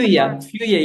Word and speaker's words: FÜYA: way, to be honest, what how do I pronounce FÜYA method or FÜYA is perfect.